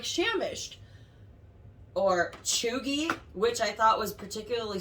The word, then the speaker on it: cheugy: So it's spelled, just because it took me a long time to figure out how to actually say this word, but it's spelled Cheugy.